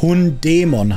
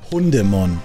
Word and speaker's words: Hundemon: reine Logik sagt es das ist Hund Dämon heißt und nicht Hundemon es ist nur die Betonung ich sage nicht dass du sagen sollst sollst nicht sagen es ist kein Dämon hundämon es ist Hund Dämon es kommt auf die Betonung drauf an nicht Hundemon Hemon Mann ich hasse